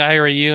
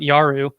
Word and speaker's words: IARU: iru region one um i keep saying ira you and they call it they they actually call it yaru which is sometimes hard for me to pronounce yaroo so yaru region 1